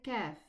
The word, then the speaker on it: kaf: Okay, what about the kaf? It's pronounced from the same area, almost the same area, but it is not elevated. We say ka and we say qa. The difference is recognized.